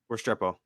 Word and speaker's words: Restrepo: Restrepo.